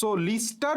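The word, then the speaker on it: Lister: doctor Joseph লিস্টার কি নাম Joseph Joseph লিস্টার লিস্টার উচ্চারণটা আসলে সঠিক উচ্চারণ লিস্টারই বাট মেডিকেলে অপশনে বললাম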